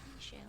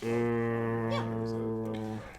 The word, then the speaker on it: Michel: Oh, Michel. Yeah. That is how you say it. I just always said Michelle.